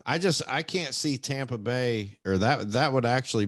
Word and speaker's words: Tampa Bay: get that you dope i'm saying tom like in tom brady tampa bay so just to get that one out um into the open but yeah tampa bay and um in new